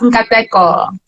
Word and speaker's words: Nkateko: So it's pronounced Nkateko. Oh my gosh, I'm gonna have to work on that. Nakateko? Yeah, that's close enough.